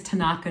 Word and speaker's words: Tanaka: So my name is Tanaka, and Tanaka is spelled T-A-N-A-K-A, and the last name is.